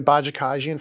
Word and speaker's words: Bajakajian: I'll provide really quick I think that was very good pronunciation uh of that case bajakajian bajakan took me years to figure that out not not my first